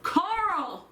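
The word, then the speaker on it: Chaol: throne of glass um his name is spelled c-h-a-o-l my daughter yells carl i was like where the hell that's what it sounds like i said where are you getting the r from it's it's there's no r that's one of my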